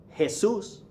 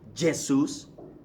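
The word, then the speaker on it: Jesús: a very famous name hey soos Jesus hey soos is not Jay Seuss that's Portuguese pronunciation but in espanol you give it an H sound hey soos okay you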